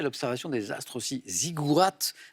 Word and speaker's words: ziggourats: Ziggourats, avec un T qui se prononce, Nicole, bravo.